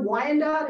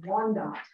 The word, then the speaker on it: Wyandot: uh you may hear Wyandotte and all different spellings of Wyandotte the original pronunciation is one dot that's also the pronunciation of our language it means people the